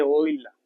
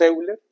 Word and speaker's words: Euler: Para los que nos están viendo por primera vez, así se pronuncia en alemán. Se pronuncia oila. En español diremos Euler, que nos permite hacer esto, producir ecuaciones diferenciales.